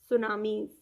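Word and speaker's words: tsunami: तो इसको हम पढेंगे इस शो नाम इस सुनामी तो यहां छुट्टी है बच्चों को साइलेंट है कि तीन लगा है लेकिन इसका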